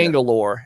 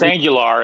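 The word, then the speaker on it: Agholor: Angelor. I think it's Nelson Angelor, but yeah. No, it's Angular, and Angular.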